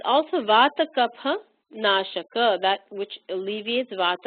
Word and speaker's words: Kapha: It is not pronounced with an F sound. We talked about that in our first class. It's really a PH, P, aspirated P sound, and it does not depend on region. It's pronounced Kapha throughout India because, in the pure sense,